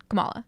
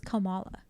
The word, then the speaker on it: Kamala: it's Kamala yeah okay so like Kamala Harris yeah okay exactly word for some reason I thought it was komala no are we sure we're